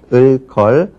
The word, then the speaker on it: 을걸: 그 다음에 그 목록으로는 을거나, 을걸, 을개, 을지라도, 을지언정, 을수록 등을 들고 있습니다. 우리가 발음할 때는 다 여기 공통되는 것은 리을로 시작하는 어미죠.